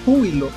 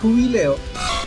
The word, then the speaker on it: Jubileo: tipo en el anime ciudad jubileo en hispanoamérica se pronuncia ciudad júbilo mientras que en realidad se llama ciudad jubileo los nidos gran son